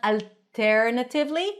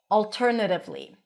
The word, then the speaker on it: alternatively: Alternatively, a dark L appears before a consonant or at the end of words. And it sounds like this. It's not alternatively, but al alternatively. If that's difficult for you, pronounce whatever L you're used to pronouncing. It's still going to be clear.